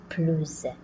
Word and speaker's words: plus: Si plus est suivi d'un nom commençant par une voyelle, on va faire une liaison, donc on va prononcer plus.